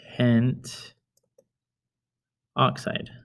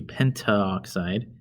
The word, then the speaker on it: pentoxide: has to be eliminated it would be penta oxide but there's a diphthong there meaning two vowel sounds in the same syllable so we eliminate the first one and it's dinitrogen pentoxide which sounds better okay let's look at